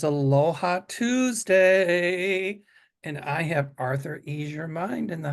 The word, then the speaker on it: Arthur: or sometimes people put Arthur like the author of a book I know I I always mispronounce it it's author and Arthur just don't call me